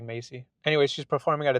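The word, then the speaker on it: Maize: character, whose name is Macy, or Maze, or I don't know, it's spelled weird, but it's pronounced like Macy.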